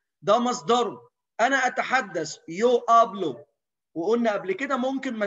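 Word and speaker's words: hablo: سايلنت الاتش نو سوبرونونسيا حرف الاتش ده مش بيتنطق طيب امي تعرفي تقولي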